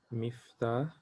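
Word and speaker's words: مفتاح: Okay, yes, it's the kasra, so it will be miftah, kasra, uh, miftah. Okay, so miftahun is a key.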